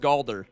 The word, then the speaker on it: Galder: Yeah, this is uh this is called Galder. It's spelled the exact same way as uh Balders's Gate, but with a G.